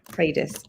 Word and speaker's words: Predis: And there's a tool called Predis AI, which I've come across recently, and it's